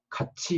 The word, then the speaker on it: 같이: 여기 여러 가지 현상을 예를 들었는데, 티읕 받침이지만 갓티라고 발음하지 않고 갓치라고 발음하죠. 그러니까 티읕은 뒤에 모음에 갖다 붙어서 연음 현상이 일어나는데, 그 연음 현상만 일어나는 게 아니라 이 티읕이 치읕으로 바뀝니다. 그래서 같이 이렇게 발음한다는데, 이렇게 되는